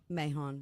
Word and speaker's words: Mahon: And now we're joined in studio by Mann. I'm pronouncing that correct, right? Mahon. Mahon. Yes.